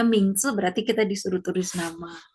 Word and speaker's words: 名字: Jadi kalau kita ngisi form, kalau misalkan ada 叫 nama, 名 ada huruf 字 Mandarinnya, kalau ada huruf seperti ini nih, ini bacanya Mingzi, berarti kita disuruh tulis nama, gitu.